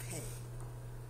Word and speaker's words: pe: We're in section 17, Psalm 119, and section 17 has the word pe, P-E, pe, as the Hebrew word that's listed for the pronunciation and for the actual subtitle of this section.